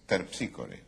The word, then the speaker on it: Terpsícore: Dije, es Terpsícore. Ah, claro. Es Terpsícore. Es Terpsícore. Esa es la pronunciación griega, claro.